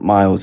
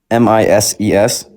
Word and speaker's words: Mises: It's not Miles. It's Miss S Institute. Spell it. M I S E S.